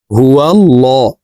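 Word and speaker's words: هُوَ ٱللَّهُ: হু আল্লাহুল্লাজি হুলাহুল্লাজি হুয়াল্লাহ। এই লামকে ল বলে পড়তে হবে। কারণ আল্লাহ শব্দের আগের হরফে জবর অথবা পেশ হইলে এই লামকে ল অর্থাৎ মোটা করিয়া পড়িতে হয়।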